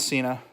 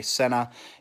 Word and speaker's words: Sena: It's not Sena. That's how all of us Americans want to pronounce it. But I watched another video where there was a rep from Sena who shared how to pronounce it. So S-E-N-A, Sena is the name. It's a Korean thing, I think. Technically, it is pronounced Sena.